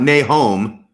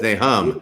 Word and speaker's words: Nahum: Now, it's not Nahum, like the Book of Mormon. It's Nahum.